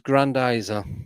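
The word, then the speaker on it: Grendizer: Pronunciation is Grandizer.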